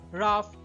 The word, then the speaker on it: rough: আবার রাফ, কফ ইত্যাদিতে কিন্তু ওইউ জিএইচ থাকলেও শেষের জিএইচ কিন্তু ফ উচ্চারিত হয়।